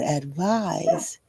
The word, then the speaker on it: advise: You can remember that advise is a verb because it rhymes with advertise, which also is a verb.